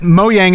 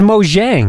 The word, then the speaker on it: Mojang: and that and that moyang is pronounced moyang which I did not know everyone thought was moang prior to well [